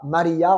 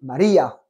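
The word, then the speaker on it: María: à Maria d'accord et on n'oublie pas qu' espagnol il y a un accent sur le de Maria on dit pas Maria on dit Maria d'accord important il sont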